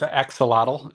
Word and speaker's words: axolotl: was the reason why you choose a ax axelite or axelite yeah so it's aelole is what they're called yeah so it's this